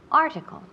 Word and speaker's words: article: Fijaos dónde recae el énfasis. Article, en la primera sílaba. Article.